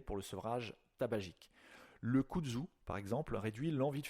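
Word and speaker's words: kudzu: Le kzu par exemple réduit l'envie de fumer en attant en atténuant les symptômes de manque.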